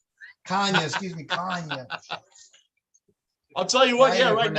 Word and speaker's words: Kanye: Kenya. Kanya. Kanye, excuse me, Kanye. I'll tell you what, I yeah, even right now, pronounce it I wrong.